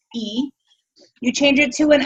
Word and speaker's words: y: When you do that, you change the letter Y, which means and. It's pronounced E.